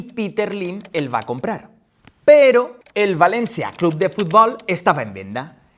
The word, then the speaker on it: però: se escri entre comes este pero esic que es pronuncia la o oberta y que en Valencia